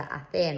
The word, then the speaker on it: hacer: Then this one, we've got the verb hacer. Remember, we don't pronounce the H.